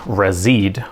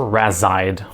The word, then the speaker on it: Razide: Here's an example of the retail packaging for a razid or razide or however you want to pronounce it.